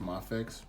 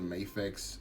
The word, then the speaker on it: Mafex: have the maifix stormtrooper I know lately I've been hearing people saying that it's pronounced mah fix I've always said may fix up to this point so I'm probably gonna continue to call it incorrectly so forgive me if